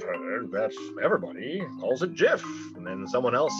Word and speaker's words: GIF: say they are wrong it is a soft g pronounced gif end of story end